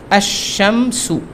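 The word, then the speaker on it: الشمس: হলো আশ হলো এবার এখানে আসুন আবার শাম আশামসু উচ্চারণ কিন্তু আমি এটা করেছি লিখেছি এভাবে কিন্তু উচ্চারণ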